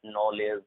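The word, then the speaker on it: knowledge: एन से before जब भी के होगा, एन से बिफोर जब भी के होगा 100% के साइलेंट होगा। जैसे इसे हम पढ़ेंगे night, night, not, नॉलेज, नो, नी, knock, NEET.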